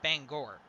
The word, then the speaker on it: Bangor: so i i have to ask because the people in maine get really touchy when you pronounce their bangor the wrong way cousin because in maine the one in maine is pronounced bangor so is this one